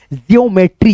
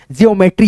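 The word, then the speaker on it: geometry: जियोमेट्री तो यहां पे हो गया जियोमेट्री।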